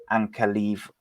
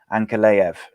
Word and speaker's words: Ankalaev: But yeah, Ion Kutaleba versus Mahmoud Ankalev. I did it again. Ankalaev. Ankalaev. That's how you say it.